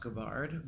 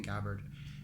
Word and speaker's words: Gabbard: Actually, her name is pronounced Gabbard, but people have already started saying Gabbard, and she's very uh, obliging about it.